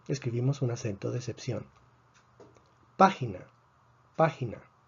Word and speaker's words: página: Página tiene 3 sílabas. Termina en vocal. Esperamos que el acento esté en la penúltima sílaba. No está en la penúltima sílaba, está en la antepenúltima sílaba. Por lo tanto, escribimos un acento de excepción.